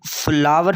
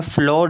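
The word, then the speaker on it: flour: तो इसको फ्लावर पढ़ना है, फ्लोर नहीं पढ़ना. फ्लोर का मतलब फ़र्श होता है. फ्लावर गुलाब का फूल और ये आटे वाला फ्लावर, दोनों ऑलमोस्ट ये इनकी प्रोनाउंसिएशन सेम है, तो इसलिए इसको फ्लावर ही कहेंगे.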